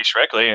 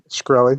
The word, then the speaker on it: Shkreli: Yeah, But that doesn't mean You could be Shrekley and or what do you say his name? Shkreli.